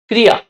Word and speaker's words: क्रिया: अब देखिए कैसे क्योंकि इसमें क ऋ या इस तरह से बोलते हैं इसको। क्रिया क्रिया आज का जो प्रोनंसिएशन है जो उच्चारण है उस टाइप से होगा। क्रिया कृ है।